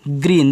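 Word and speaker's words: green: are double E एन इसको आप पढ़ोगे ग्रीन देखो जी आर से आपका ग्रह होता है जैसे आपने सीखा था पी आर से परा सी आर से के आर से करा तो वही आपका बच्चों है जी आर से ग्रा लेकिन यहां डबल ई है तो बड़ी ई की मात्रा न से ना आपका ग्रीन हो गया सीप तो एस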